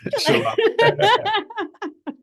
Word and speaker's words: Chilau: Chilau. You're close. Chilau.